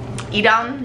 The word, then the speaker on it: Edam: Edam is how you say it.